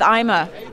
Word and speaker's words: Ima: loud um you know i gotta go with ima right now that's how you pronounce it okay yes i'm a